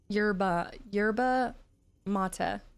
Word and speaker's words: yerba mate: I think it's pronounced like latte. Mate. Oh, okay, yerba mate. I can see that. That's a great way to put that. Accent on the E.